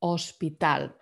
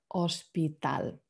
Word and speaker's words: hospital: spelling is the same just slightly different um pronunciation hospital the age in spanish is silent so let's pretend it's not there hospital there's something else i wanted to mention here